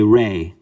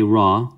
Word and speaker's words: Ra: circle right that's wrong we say re even the coptics say re they don't say raw they say re we say raw as westerners and then you can